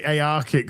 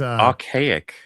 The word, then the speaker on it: archaic: I want to say Aarkic. It's not Aarkic. It's Archaic.